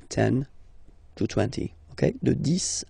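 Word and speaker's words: dix: Okay, de 10 à 20. Okay, so let's start now. 10. Okay, so remember, final X here is pronounced like S, 10, 10, okay, then 11,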